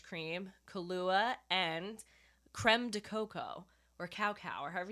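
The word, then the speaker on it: cacao: think it's spelled okay it's spelt like cow cow no but i would say coco all right so you're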